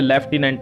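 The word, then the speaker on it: lieutenant: को यह होती है इसको झूठ बोलते हैं लेकिन बोलने में यह लेफ्टिनेंट आता है साथियों ठीक है जब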